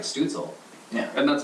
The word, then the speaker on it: Stützle: Two dots, you pronounce the U as a U. Stützle, like Stützle.